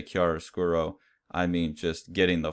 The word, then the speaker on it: chiaroscuro: art word for that, pronounced chiaroscuro. I can barely pronounce English words, so don't totally trust my pronunciation there.